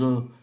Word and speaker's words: œufs: Ở đây chúng ta để ý là danh từ này, nếu mà ở số nhiều chúng ta đọc là les œufs, nếu ở số ít chúng ta đọc là un œuf, một quả trứng, les œufs.